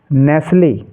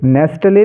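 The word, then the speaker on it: Nestlé: match match ठीक है एन ए एस टी एल नेसले ठीक है क्या पढ़ेंगे नेसले नेले नहीं नेसले ऐसे ही डब्लू आई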